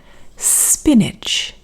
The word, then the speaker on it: spinach: You can see here the stress is on the first syllable. And here, even though we use the letter A, the sound is I. It's the same sound as here. Spinach.